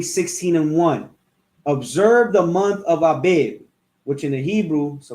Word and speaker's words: Abib: Observe the month of Abib, which in the Hebrew, so like I'm just going to get in the Hebrew, how do you say Abib, which is Abayab, right?